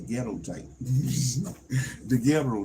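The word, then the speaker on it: daguerreotype: I'm still probably not gonna be able to pronounce the gero type Theo type Theo sound like the ghetto type Theo type Theo um Theo type an early photo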